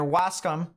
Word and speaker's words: Wascom: tornado was located near wascom um or if someone said in the chat actually earlier let's see how uh they pronounced it um Wasco Wasco all right uh was